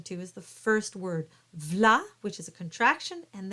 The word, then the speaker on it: V'là: where to emphasize things so here's what you do you stick the L of stick it on the vla because most of the